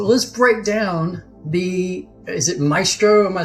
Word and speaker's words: Maestro: So let's break down is it Maestro? Am I saying it correctly? The Maestro solution? Yes. Yeah, okay. Absolutely. Maestro.